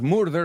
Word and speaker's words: murder: And murder, cuidado, no es murder, es murder. Imagínate la U como una E.